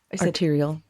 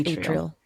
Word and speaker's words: atrial: What did I say? Arterial. Oh, it's atrial.